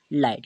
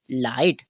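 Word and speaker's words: light: पर वो क्या रहेगा हमारा जी एच वो रहेगा साइलेंट ठीक है क्या रहेगा चुप रहेगा साइलेंट रहेगा ठीक है वो अपना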